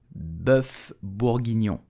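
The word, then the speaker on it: bœuf bourguignon: onion mushroom and bacon so how do we pronounce the name of this very famous French recipe you will say buff burgino foreign did you know that beef Chic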